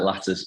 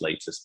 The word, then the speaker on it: Latus: of the company it's latest health yeah i mean it looks like lattice uh it does but um technically it's pronounced latest but i think the